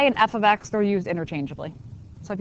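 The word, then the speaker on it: f(x): The Y and that's pronounced F of X.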